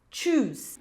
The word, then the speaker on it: choose: Então, lembra, quando palavras começarem com c H, vai ter esse som mais forte, como se tivesse um T antes. Então, vai ficar chocolate, chip, choose.